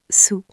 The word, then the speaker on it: sous: Sous S o u s. Sous sous. Attention Alex, la prononciation est importante. Le premier mot sûr comme tu le deuxième mot sous comme vous.